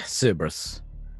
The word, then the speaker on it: Cerberus: On this particular day, Commissar Cerberus, is it Cerberus or how's that pronounced? Yeah, Cerberus.